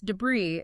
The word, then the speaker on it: debris: Oh, debris pronounced debris. and bree like scraps.